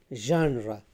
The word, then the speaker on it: genre: It's not genre, it's genre, genre, it's genre, genre, genre. So the stress is on the first syllable, and then the sound is not ja, it is not za, it is ja.